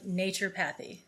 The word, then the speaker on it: naturopathy: She's a doctor of naturopathy. Did I pronounce that right?